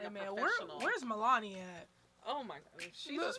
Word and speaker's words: Melania: I know, like, Savage goes, Melania goes too, bitch.